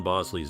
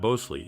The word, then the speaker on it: Bosley: This led to a joke within the show about mispronouncing John Bosley's name, to which he would correct, "Not Bosley, it's Bosley, like the guy on Happy Days."